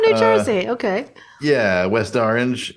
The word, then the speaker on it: Orange: Jersey orange yes or you pronounce it it's one syllable orange orange yeah orange well